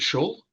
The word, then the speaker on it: shul: The wallet street is it shul or sh you said it right the first time.